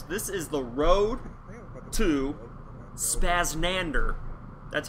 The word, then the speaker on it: SpazZznander: the title suggests this is the road to spaznander that's how you pronounce that spazz nander it kind of rolls off your tongue a